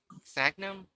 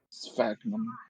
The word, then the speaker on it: Sphagnum: closely related to the genus uh, Sagnum? Sphagnum. Yeah, Sphagnum. that's how I'd pronounce that.